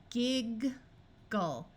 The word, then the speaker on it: giggle: Now, G sometimes has its soft J sound before an I, but it does not have to do that. In this case, we are going to use the hard G sound of G.